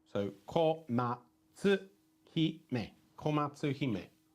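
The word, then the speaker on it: 小松姫: So you break it down into consonants and vowel pairs or just vowels. So komatsu hime.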